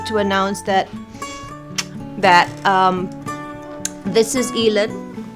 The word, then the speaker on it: Ilon: It's so important, and that's why I'm so happy to announce that this is Ilon. It's spelled I-L-O-N, Daniel, like Isidore Daniel Iking Azmi.